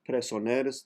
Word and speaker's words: presoners: to 256 altos son presoners the r in that word is silent de la mor sombras